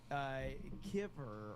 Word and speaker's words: kiver: And then he says kiver rhymes with river means freshwater pan fish sunfish.